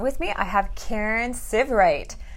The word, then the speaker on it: Sievwright: me I have Karen sieve right it rhymes with give right remember for all those